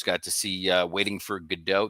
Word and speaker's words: Godot: Got to see Waiting for Godot. They pronounce it Gatto for some reason in this performance, which is odd.